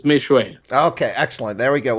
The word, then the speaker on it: Meshoe: Did I get your name wrong, sir? Meshoe, sir, you got it right. It's Meshoe.